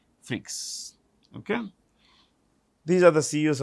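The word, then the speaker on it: Freixe: actually l a u r e n t freaks f r i e x e freaks okay these are the CEOs of these companies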